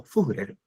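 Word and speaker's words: Führer: Ahí está escrito furer porque los dos puntitos sobre la U se pronuncian. Pero en castellano podemos decir furer.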